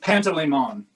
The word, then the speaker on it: Panteleimon: Pantaleimon, Pantaleimon.